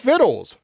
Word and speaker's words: victuals: kenita said what oh uh viddles the word is viddles and it's to me